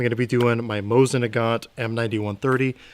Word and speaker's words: Mosin: United States just FYI I'm going to be pronouncing it Mosin it got so if